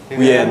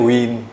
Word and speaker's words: Wien: Kalau di sana itu tulisannya Wien. Wien. Heeh. Jadi banyak-banyak orang yang di sana ngomongnya win bukan Vienna.